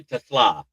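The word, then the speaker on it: TeSlaa: Yeah, Tesla is how it's pronounced.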